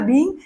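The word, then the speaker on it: being: तो काफी स्टूडेंट है ना साउंड प्रोनाउंस ठीक से नहीं करते, तो there is अ बिग difference between बीन और बीइंग। हमें बीन नहीं बोलना, हमें बोलना है बीइंग।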